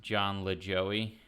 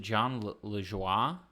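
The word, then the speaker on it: Lajoie: Um, my friends always pronounce John Lejoy as John Le Joey. Oh, yeah. I could see that. That would be an American thing to do. Like that. Yeah. Or it's Is it John Lua? See, I didn't even I didn't even say it right.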